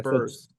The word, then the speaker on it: Burse: I don't even remember I remember her correcting me about her last name, and then one of them not knowing that they rhymes with Hearst too. Rhymes with Hearst. Hearst. Amanda Burse.